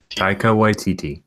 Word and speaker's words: Taika Waititi: How do you pronounce the guy's name? Taika Waititi. Taiki Waititi.